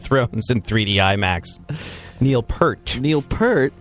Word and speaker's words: Peart: Peart, like the boobs you're going to see in giant 3D when you go watch Game of Thrones in 3D IMAX. Neil Peart.